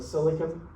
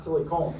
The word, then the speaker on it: silicon: Can somebody say we're living in the silicon world? Not silicone. Silicon different pronunciation to totally different meaning.